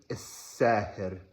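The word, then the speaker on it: الساهر: It's al-Saher. And I know that's me saying it with a Tunisian accent, but his style is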